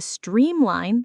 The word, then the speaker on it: streamline: Remember, the stress is on the first part of the word.